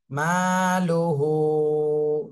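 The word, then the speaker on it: مَالُهُ: এখানে মদের হরকত এক আলিফ টেনে পড়তে হবে মালুহু মালুহু ওয়াও জবর ওয়া মিম আলিফ জবর মা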